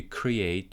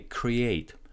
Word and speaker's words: create: T at the end is silent, so Quentin is not pronouncing it.